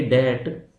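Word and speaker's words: debt: Unable to पे डेट, इसको डेट बोला जाता है, बी यहाँ पे साइलेंट होता है।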